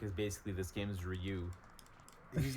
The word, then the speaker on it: Ryu: I believe that's pronounced Ryu yeah yes like the bread yeah after bread that's